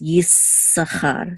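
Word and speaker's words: יששכר: The way it's pronounced is Yisachar. So you kind of just hold it a little bit. Okay, this sound. So Yisachar, and the accent is on cha right here.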